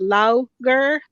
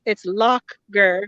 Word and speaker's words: Lough Gur: It's near the lake called Lough Gur, and they say Lough Gur, but like us Americans, it sounds and looks like it's pronounced Lough Gur. But it's Lough Gur. I learned that this morning because Irish words are different from English words, and so that's how they pronounce it. And anything that has a GH at the end of it it's like a k, like instead of like lock instead of low.